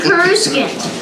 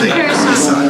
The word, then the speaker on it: Coruscant: I'm used to saying Karuskin. All right. Not Kursan. Kursan.